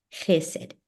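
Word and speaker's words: חֶסֶד: Es como jamón, jalapeño, jaguar.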